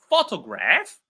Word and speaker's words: photograph: So the correct answer is photograph because because that's how natives pronounce it, right?